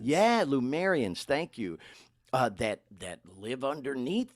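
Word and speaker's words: Lemurians: Is it pronounced Luminaire? Lumerians. Yeah, Lumerians.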